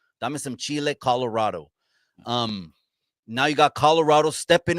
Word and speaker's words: Colorado: the series of fighting, let's say it right. Let's say the way the Raza says it, Colorado. Okay. Now Right. you got Colorado. Okay. Now I'm gonna say like the Gavachos say it, Colorado.